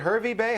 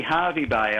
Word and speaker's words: Hervey Bay: i'm very well now is it hervey bay how do you say that it's actually harvey bay i think um we